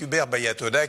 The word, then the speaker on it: Hubert Baya Toda: Le grand entretien avec Hubert Bayatoda, qui est fondateur et patron de Lickmitted. Je l'ai bien prononcé?